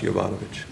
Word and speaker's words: Jovanovich: my name is pronounced Jovanovich.